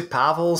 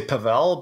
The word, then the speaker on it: Pavel: know some people say pavel some people say pavel but i'm cool with either one all right perfect i